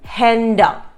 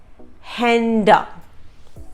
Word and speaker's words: Hände: For example, Hand is H-A-N-D, hand, and two hands is Hände. Hände. So the A has an umlaut in Hände.